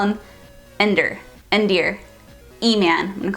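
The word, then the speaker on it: Endir: mercenary named Ender and it's spelled e n d i r so in my head I think I was saying endar but endar just sounds weird so I'll call him Ender endar e-man I'm going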